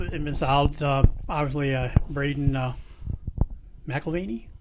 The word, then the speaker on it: McElvaney: Obviously, Braden McElvaney? Melvaney, yep.